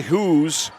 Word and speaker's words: Hoose: And it's Aubriana Hoos, whose name is spelled Hoose. So when we say Hoos, it's really Hoos on the weave.